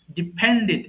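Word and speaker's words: depended: নির্ভর করা ডিপেন্ড ডিপেন্ডিড ডিপেন্ডেড এখানেও তাই যদি শব্দের শেষে ডিডি পাই তাহলে অবশ্যই সেটাকে ডিড উচ্চারণ করবেন সো এটা হবে ডিপেন্ডেড ডাইজেস্ট হজম করা ডাইজেস্ট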